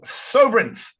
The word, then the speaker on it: Sobrynth: but now has a whole new startup called Sobrynth. Did I pronounce that correctly?